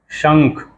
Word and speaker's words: शंख: फिर ख होता है, तो उसको पढ़ते हैं शंख, यानी श, और उसके बिंदी को क्या कहते हैं, कैसे उच्चारण करते हैं, कैसे प्रोनाउंसिएट करते हैं? अंग, शंख, शंखंग, शंख हो जाता है।